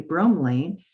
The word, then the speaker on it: bromelain: But bromelain, or bromelain, let me say it correctly, bromelain actually is a joint lubricator.